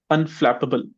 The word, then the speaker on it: unflappable: This was our third word, unflappable. What's the stressed syllable in this one, Rohit? Flap, sir. Excellent. Repeat after me now, Rohit. Unflappable. Unflappable. Unflappable. Unflappable. Pubble, not pable.